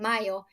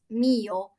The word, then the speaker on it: Mio: I kept saying Mayo, and then someone corrected me. You're like, no, it's Mio.